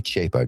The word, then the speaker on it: Chapa: at my name, uh, some people think it's Chipa or or Chapa or they say it say it wrong. It's Chapa, guys. Say it with me. Chapa.